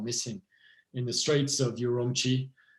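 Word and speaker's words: Ürümqi: in the streets of yurumi pronounced urui in China City of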